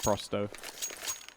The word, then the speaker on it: pro100: actually told uh pretty early on that it's pronounced frosto as I believe that's just 100 in going